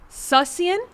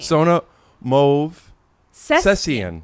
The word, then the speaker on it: Movsesian: Last name, never been able to pronounce. No. Okay. Well, thank you for trying to. Movsesian? Movsesian. Movsesian. Yeah. Movsesian. Movsesian. Sussian?